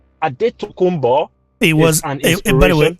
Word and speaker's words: Adetokunbo: feel like i did that's what they call him in america but we call him adetokunbo that is the real pronunciation of the name a daytokumba it was by the